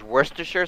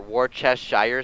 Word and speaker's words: Worcestershire: the back and then there's Worcestershire sauce if you've ever heard of that no or wore chest Shire sauce is how it's spelled um it's used in